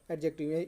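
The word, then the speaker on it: adjective: जैसे एडजेक्टिव को लोग उसको क्या बोल जाता है, एडजेक्टिव लिखा जाता है और पढ़ा जाता है, यहाँ पे डी साइलेंट हो जाता है, एडजेक्टिव क्या पढ़ा जाता है, एडजेक्टिव।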